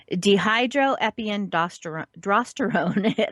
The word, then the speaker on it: dehydroepiandrosterone: It is, let's see if I can pronounce this correctly, dehydroepiandrosterone. Yes, it is drosterone. There is an R in there. So dehydroepiandrosterone, that is DHEA.